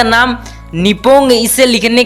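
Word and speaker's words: 日本: अगर आप इसे इंग्लिश में लिखा हुआ देखोगे तो आप इसे निपोन करके प्रोनाउंस करोगे, लेकिन असली प्रोनाउंसिएशन इसकी निपो होगी।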